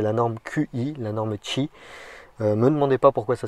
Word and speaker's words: Qi: évidemment donc c'est la norme qi la norme chi me demandez pas pourquoi ça se prononce comme ça le volant basséen petit volant